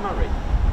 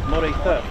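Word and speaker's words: Moray: you pronounce that correctly is it Murray M it is m not used to call it it's Mor okay thank you for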